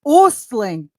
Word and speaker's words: Ostling: Listen, my maiden name, check this out, was Ostling. In Swedish, it's pronounced Ostling.